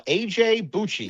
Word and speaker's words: AJ Bucci: Uh, it's actually pronounced uh AJ BCI.